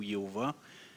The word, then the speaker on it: Jéhovah: » dans l'Ancien Testament, c'est le tétragramme qui est là, YHWH, qu'on prononcerait Yahvé ou Jéhovah.